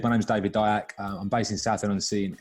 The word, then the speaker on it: Diack: But yeah, as you said, my name's David Diack.